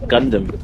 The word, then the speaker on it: Gundam: that's how you say it isn't it it's Gundam Gundam oh you can say gundam say whatever